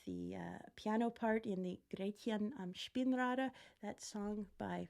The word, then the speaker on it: Gretchen: But as an English speaker, you see the title of that song and you think Gretchen. But I always remember the voice teacher saying, not Gretchen, Gretchen, Gretchen.